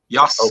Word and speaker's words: Yasuke: You don't pronounce the U. Yasuke. okay, Yasuke.